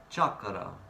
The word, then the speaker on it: chakra: It's not a French word, chakra. Chakra, chakra, that's actually how you pronounce the word, chakra.